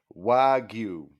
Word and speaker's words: wagyu: you figure it out it sounds like it's wagyu wagyu syllables you you is it's like it is right at the threshold of two syllables like it on a technicality it's one syllable but Japan they cut